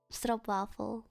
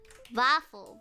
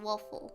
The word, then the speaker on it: stroopwafel: Don't say stroopwafel, that's wrong. Stroop. Oh. Wafel, not waffle. Wafel. Big A. Ah. Like opening your mouth for both vowels. Stroopwafel. Say it correctly. Don't say stroopwafel.